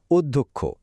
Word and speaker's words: অধ্যক্ষ: একদম নির্ভুল উচ্চারণটা কি উচ্চারণটা হলো অধ্যক্ষ এখানে আসলে তিনটা পার্ট আছে অ হয়ে হয়ে যাচ্ছে ও ধটা হয়ে যাচ্ছে ধক্ষ আর খ হয়ে যাচ্ছে খ এই উচ্চারণ টা কিন্তু খুব ভালোভাবে মনে রাখতে হবে।